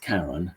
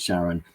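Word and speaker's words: Charon: Um and uh he he didn't really know that it was pronounced Karen. So he always pronounced it Sharon. And a lot of people do uh because of that.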